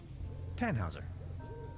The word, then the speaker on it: Tannhauser: thought about it why what's your name tanhauser we'd pronounce it with an umlaut German roots yes my